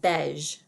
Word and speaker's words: beige: creamy khaki color and that's pronounced beige beige and finally we have